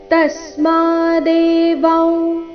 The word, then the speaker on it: ತಸ್ಮಾದೇವ: ಕೊನೆಯತೆ ದೀರ್ಘ ತಸ್ಮಾದೇವ ವಿಧಿತ್ವೈನನ್ ತಸ್ಮಾದೇವ ತಸ್ಮ ತ ಮೇಲೆ ಆಘಾತ ಮ ದೀರ್ಘ ಶಬ್ದದ ಕೊನೆಗೆ ಅನುಸ್ವಾರ ಬಂದಿದೆ